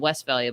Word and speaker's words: Westphalia: It's spelled Westphalia, but it's pronounced Westphalia.